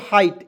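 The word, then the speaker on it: height: चलिए उसके बाद यहाँ आप देखेंगे HIGST, तो इसे पढ़ेंगे दोस्तों हाइट, एच का उच्चारण ह के रूप में, इसमें आइट जोड़ेंगे, तो हाइट हो गया ना जी।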